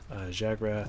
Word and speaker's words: Zhagrath: Try to get make sure the Z is, you know, pronounced. But like, you know, still have it the H sound in there, so we know what's up. Zhagrath, like very. But a mix between the S and the Z.